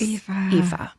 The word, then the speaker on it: Aoife: Lots of love, Aoife, which is spelled Aoife. So if Oh my God. you want to know how to pronounce that name, Aoife just explained it to all of us. Aoife.